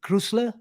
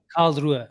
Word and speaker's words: Karlsruhe: Talking of kids, Avi, Conor Bradley played the inverted role, with, how do you pronounce that team? Krusler? Karlsruhe.